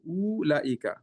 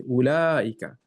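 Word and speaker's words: أولئك: If it was just pronouncing it the way it's written, it should be ooh laika. But it's completely opposite. You don't pronounce here, but here as a hidden alif. So you say ulaika.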